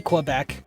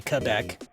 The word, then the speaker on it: Quebec: have to note that I don't know many people who pronounce Quebec care um correctly even people from Canada so that was cool yeah we say uh we say Quebec but yeah it should be Quebec the blue flower in